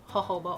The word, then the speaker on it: jojoba: cuticle moisturized for moisturizing them I do recommend jojoba oil and yeah I know that's weird word that is how it says it's spelled Jo Jo ba for those of you